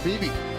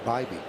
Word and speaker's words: Bybee: It'll be Will Warren against Hannah Beebe. Tanner Bybee. Tanner Bybee tomorrow. Bybee, yes. Now I'm 0 for 2 on pronunciations.